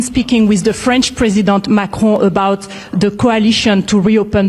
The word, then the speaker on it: Macron: See, some of you guys think I'm being silly when I go Emmanuel Macron. But it's real. This is a French reporter. That's how you say it. Macron.